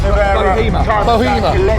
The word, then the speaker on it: Bohema: What's it pronounced? Bohema.